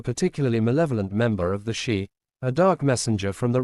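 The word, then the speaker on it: sídhe: the dullahan to the shei pronounced she often translated as fairies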